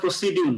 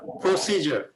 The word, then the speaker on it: procedure: এই ডি এখানে জ উচ্চারণ হয়ে যাবে, যার কারণে প্রসিডিউর না, প্রসিজার। এই সির উপরে এখানে একটা স্ট্রেস হবে, প্রসিজার। এই যে ডি যে এটা জ হয়, পরে আমরা শিখবো পরে। তাহলে এটা প্রসিডিউর আগে উচ্চারণ করছে, সেটা উচ্চারণ ভুল, এটা করা যাবে না, প্রসিজার।